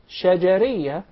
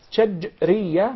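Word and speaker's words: شجرية: Some of even the Arab would say shajariyah, and there is a big difference between both of them. When there is a sukoon on the letter jim, that's shajriyah, means from the middle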